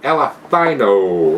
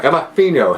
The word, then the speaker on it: Elephino: Anyway, guys, Red Rock Alephino, or Elephino, however you want to. I think they want it to be pronounced that way. Elephino.